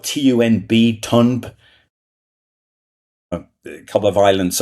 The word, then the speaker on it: Tunb: And then there's like it's spelled TUNB, Tunb.